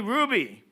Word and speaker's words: Hruby: Do we pronounce the H? - It's silent. - The H is silent, yes? - English. - All right. Julie Hruby is an assistant professor